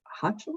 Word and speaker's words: Hochul: And we've got Williams versus Hochul, I think you say her name. Hochul.